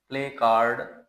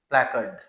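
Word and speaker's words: placard: सी ए आर डी इसको आमतौर पर प्ले कार्ड बोला जाता है और 99 पर लोग ऐसे ही बोलते हैं प्ले कार्ड बट it's correct pronunciation is प्लक्ड प्ले प्ले कर्ड प्लेकार्ड नॉट प्ले कार्ड then we have another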